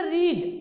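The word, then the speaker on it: read: देखिए रीड और ये रीड, रीड जो है फर्स्ट फॉर्म में, सेकंड फॉर्म में, थर्ड फॉर्म में, तीनों में स्पेलिंग सेम होती है, लेकिन जब सेकंड फॉर्म में पढ़ेंगे तो रेड पढ़ेंगे। क्लियर? और जब थर्ड फॉर्म में पढ़ेंगे तो भी रेड पढ़ेंगे।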